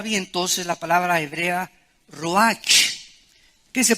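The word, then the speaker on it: רוח: entonces la palabra hebrea roja que se pronuncia rojas la ch en el hebreo se pronuncia como jota y que es la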